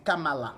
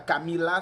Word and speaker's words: Kamala: pour dire que non, c'est Kamala. C'est pas Camila, c'est pas Camila.